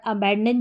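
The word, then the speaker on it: abandon: इसको हमने अ पढ़ा। बी ए एन हमारा बन गया बैन। अ बैन और डी ओ एन को हम डन पढ़ेंगे। डॉन नहीं पढ़ना है। डन। देखिए अ बैन डन।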